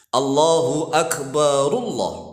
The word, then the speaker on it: Allahu Akbar: Nah, kalau dibaca wasol seharusnya roknya itu didomah. Roknya didomah masuk ke dalam lafaz Allah. Allahu Akbar begitu. Allahu Akbarullah, barullah.